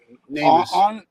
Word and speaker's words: NamUs: There's information that was released on the Namus or Namus, however it's pronounced. Ed, you can probably correct me on that. Namus.